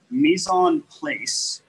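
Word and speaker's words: mise en place: word is place p l a c e mison place is a phrase that actually comes out of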